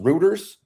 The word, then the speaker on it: Reuters: It's pronounced Reuters. R-E-U. I always say routers, but it might be routers.